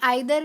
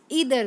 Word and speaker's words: either: इसको हम दो तरह से प्रोनाउंस कर सकते हैं, आइदर भी और ईदर भी.